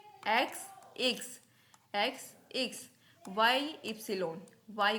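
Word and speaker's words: Ypsilon: वे एक्स इक्स एक्स एकस एक्स एकस वाई एप्सन वाई को क्या बोलेंगे एप्सन जड को बोलेंगे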